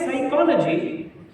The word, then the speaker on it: psychology: And English is such a weird language where you write psychology, but you start psychology with a P. You ask the Englishman why, and he says P is silent.